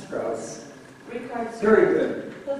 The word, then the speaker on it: Strauss: And you pronounce their last name? Strauss. Strauss.